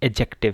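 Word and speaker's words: adjective: लेकिन ये क्या है, एडजेक्टिव है। इसमें ये जो डी है इसको आपने प्रोनाउंस नहीं करना।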